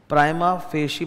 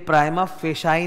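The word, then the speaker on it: prima facie: फेशी evidence of दी प्राइमा फेशी pronounce होता है कुछ लोगों को मैंने देखा है व प्रोनंसिएशन में ध्यान देते नहीं है उनको जभी भी कोई इस तरह का इटली साइज वर्ड मिलता है ना मतलब ये तो ग्रीक लैटिन टाइप वर्ड है ना वो अपने हिसाब से थोड़ा टेढ़ा बाका करके प्रोनाउंस कर देते हैं और एकदम दिमाग सटका देते हैं यह प्राइमा फेई नहीं होता है तुम बड़े-बड़े लोगों को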